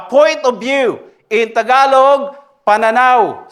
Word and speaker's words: pananaw: In Tagalog, pananaw. Say it. Pananaw. Gira, can you say it? Pananaw? It doesn't need to roll an R, like saying my name.